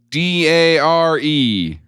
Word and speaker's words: DARE: Uh and then the word uh du d a r e d.